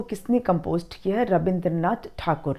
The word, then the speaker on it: ठाकुर: गया है तो अ क्योंकि स्पेलिंग हम टैगोर लिख रहे हैं तो मैं टैगोर बोलना पड़ता है पर आप ठाकुर लिखेंगे तो भी सही है ओके तो रविंद्र नाथ